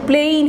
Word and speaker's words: plane: যখনই এর সাথে একটা PLANE হয়ে যাচ্ছে, প্লেইন হয়ে যাচ্ছে, উচ্চারণটা একটু হয়ে প্লেইন, একটু রসই একটা যোগ হয়ে যাচ্ছে, প্লেইন, তখন প্ল্যান হচ্ছে পরিকল্পনা।